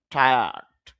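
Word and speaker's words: tired: তাহলে শুদ্ধ উচ্চারণটা হবে টায়ার্ড। র সাউন্ডটা অল্প করতে পারেন, না করলেও হবে।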